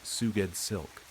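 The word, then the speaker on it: Sgouedslk: S G O U E D S L K pronounced Suged Silk.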